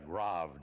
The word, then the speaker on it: Grave: place between Nijmegen and Grove GRA ve he pronounced the Grove we all pronounced a grave you know we were going to our graves you know and that